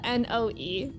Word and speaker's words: Noe: Noe is spelled N-O-E.